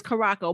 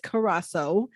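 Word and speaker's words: Curaçao: pronounce it or cola that's how i say it's karako but i think the proper way is carrasso so i'm gonna say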